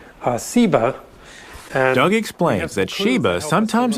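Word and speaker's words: Seba: scholars think is related that has just a different s sound uh siba doug explains that sheba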